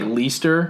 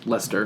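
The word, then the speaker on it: Leicester: I see II STR so it looks like least er that's likely sure but it's Lester be sure wait how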